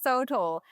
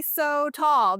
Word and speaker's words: sotol: This is called Texas Sotol, and that's spelled S-O-T-O-L, but you could also say so tall because it is.